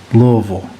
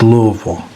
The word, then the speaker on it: Louisville: If you live in Kentucky, that's how you pronounce it. Louisville. It's not Louisville or Louisville. It's Louisville.